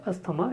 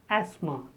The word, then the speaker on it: asthma: Many people speak it as asthma. It is not asthma, it is asthma. The first is a as in apple.